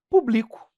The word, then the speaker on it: publico: Ó, público, publico. Público um adjetivo, ou um substantivo, ou público, e o verbo.